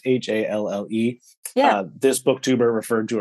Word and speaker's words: Halle: Also, I thought her name was Hallie Butler because it's Halle.